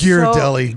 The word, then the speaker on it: Ghirardelli: ghirardelli gave you yeah it's gear deli make sure you say it right i know wait what did i say it's geared up it's gear like gears okay i should know